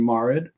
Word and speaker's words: Marid: It's Shafit and Marid. Oh, Marid.